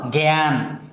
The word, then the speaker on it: জ্ঞান: যেমন জ্ঞান, বিজ্ঞ, কি বলি, জ্ঞান তার বিজ্ঞ, জ্ঞাতি, জ্ঞাত, বিজ্ঞান, তারপরে এরকম গ গ এরকম করি আসলে কি আমরা এগুলোর উচ্চারণগুলো করে থাকি।